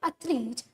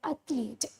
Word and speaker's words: athlete: the question describe a famous sports person or athlete that you admire okay so the first thing I want to tell you is like the pronunciation of the word athlete yes ma'am yes because most of the students